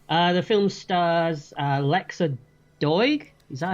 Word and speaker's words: Lexa Doig: The film stars Lexa Doig. Is that how you pronounce it?